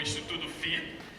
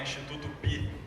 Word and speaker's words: Instituto FI: Acertou Hamilton, acertou, porque às vezes o pessoal fala Instituto Pi. E eu já estava ali do lado calculando como eu ia corrigir Instituto Pi.